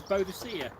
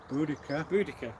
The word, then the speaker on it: Boudica: one of the most famous British women warriors, Boadicea. Boudica. Yeah. You. Queen Boudica.